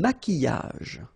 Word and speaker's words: maquillage: Un maquillage. Okay, so here, same rule, QU, but then U is not pronounced, so qui, and then y.